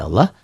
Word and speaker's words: Allah: dibaca tipis kenapa tuh Hai karena sebelum lafadz Allah ada huruf-hurufnya Mas aja kebetulan sini hurufnya bak